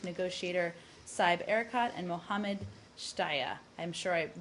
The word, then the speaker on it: Shtayyeh: represented by Chief Negotiator Saib Erekat and Mohammed Shtaya. I'm sure I butchered that last name.